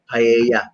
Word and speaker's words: paella: Alam ko si Chef RB may paella yan, pero paella pala ang pronunciation.